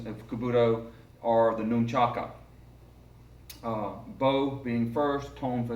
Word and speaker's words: nunchaku: one to begin with pronunciation it is a nunchaku nu n CH a K you noon Chaka you will hear me sometimes refer to them as a new truck because that's a colloquial istic pronunciation or slang even in the Orient they are not however noon chugs nunchucks or chucks please refrain from using